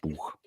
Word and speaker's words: Buch: That's how it's spelt, and it's pronounced Buch.